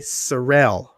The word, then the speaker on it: Seril: Michael Y. Seril. Did I say it right? Yes.